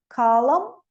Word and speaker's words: column: MB, não pronuncio o B, então. Com, climb, lamb. MN, column, autumn, hymn.